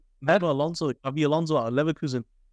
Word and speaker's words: Alonso: Have I got the name wrong? No, Alonso.